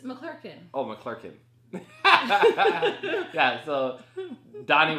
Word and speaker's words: McClurkin: In fact, they just had an alumni, and Donnie McClocken was there. Okay, I don't like the way you pronounce his name. It's not a chicken, McClocken. It's McClurkin.